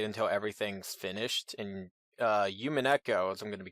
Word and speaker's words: Umineko: And then somebody told me about Umineko, or rather, Umineko, as you pronounce it.